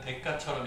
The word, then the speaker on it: 대가: 하는 거예요 대가를 지불한다 발음할 때는 대가처럼 읽어요 우리가 대가를 지불한다 이게 맞아요 이게 맞아요 1번 2번 답은 여기 써 있잖아요 이게 맞아요이 시옷이 들어가면 안 돼 틀린 거예요네 하나요 이거